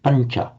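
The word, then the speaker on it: pañca: The n becomes slightly palatized because of the immediately following palatal ch sound, pancha.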